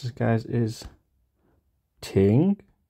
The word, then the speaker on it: 庭: Courtyard equals equals Courtyard and the way we pronounce this guys is ting Ting so once again that's shelter Plus Court equals